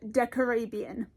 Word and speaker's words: Decarabian: the Archon War is Decarabian. Which, as I say it feels wrong, but that seems to be the correct pronunciation as far as I can tell, so we live with it.